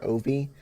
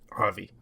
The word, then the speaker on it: Avi: At the beginning of the movie, we follow around the main character, Ovi, or Avi. I don't remember exactly how his name is pronounced. It's Avi? Avi.